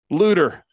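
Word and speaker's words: Loutre: Correct me if my Missouri is mispronounced. Lutter.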